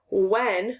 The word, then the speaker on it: when: w r all right now like in the word when the sound can sometimes